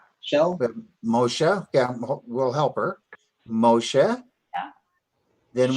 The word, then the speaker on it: Moshe: lengthens that act sound Moshe Moshe there's a definite air sound at the end of this word Moshe it's not just Moshe